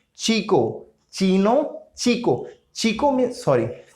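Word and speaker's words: chico: अगर सी एच के साथ आता है तो उसका साउंड हो जाएगा चा। ओके, चा। Like चीनो, चीको, चीनो, चीको।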